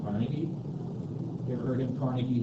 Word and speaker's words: Carnegie: so for instance there's a guy named Andrew Cari uh we often pronounce his name Carnegie you ever heard him